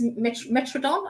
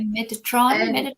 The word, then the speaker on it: Metatron: So the two angels that stepped forward then was Ariel, and then I think it's Metrodon, I think how you pronounce it. Yeah, Metatron. Metatron, that's it.